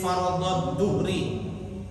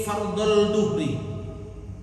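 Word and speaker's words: فرض الظهر: Usolli fardhad duhri. Fardhad. Kadang-kadang ada orang sholat duhur itu lafalnya nggak benar. Usolli fardhal duhri.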